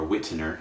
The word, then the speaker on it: Wittner: So the major types, the first one is the mechanical metronome, of which here I have Wittner, or Wittner, as you might pronounce it in English pronunciation.